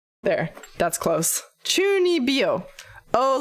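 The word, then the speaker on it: 中二病: Fuck, does anybody know how to pronounce it? Maybe this one? Chunibyo. There, that's close. Chunibyo.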